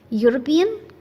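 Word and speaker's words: European: example देख लेते हैं यूरोपियन again E यू बट इट्स it's sound is consonant so यूज अ यूरोपियन योलॉजी यूफेमिस्म eucalyptus house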